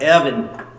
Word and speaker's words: Erwin: That's Erwin, my friend Erwin. He's a collector from Austria. Pronounced Evan.